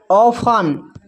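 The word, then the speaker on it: often: जब किसी वर्ड में टी ई एन टी सी एच टी एल ई रहे तो टी साइलेंट होता है।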